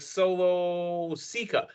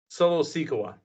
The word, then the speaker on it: Solo Sikoa: It's like Solo Sikoa. There it is. Solo Sikoa.